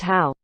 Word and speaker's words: Hao: His given name is pronounced Hao.